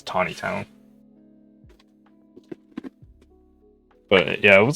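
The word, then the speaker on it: Taneytown: So it's spelled Taney town, and it's not pronounced Taney town. It's Tawny town. Like I guess like Puxatawny, Phil, but without the W. So yeah, it's not Taney town. It's Tawny town.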